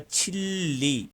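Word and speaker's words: 진리: को कहा जाता है, लेकिन जब हम कोरियन की तरह इसको प्रोनाउंस करेंगे तो ये बोला जाएगा छिल्ली। छिल्ली लाम बोला जाएगा, मतलब कि रियल की लास्ट वाली फॉर्म छिल्ली बोला जाएगा ये लफ्ज।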